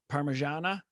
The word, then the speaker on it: parmigiana: what is this chicken is it parmigia or however it's you know phonetically spelled out and the person just says parmigiana and i was like